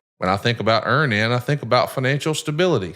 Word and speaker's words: Earnin: who say things like, when I think about Earn In, I think about financial stability, security.